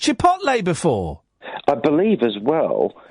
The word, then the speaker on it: chipotle: How would you pronounce that? I say chipotle. Right, I would say chipotle.